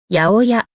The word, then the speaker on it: 八百屋: Hãy cùng đọc nhé: やおや. Cách đọc on’yomi ハッピャク rất hiếm khi dùng.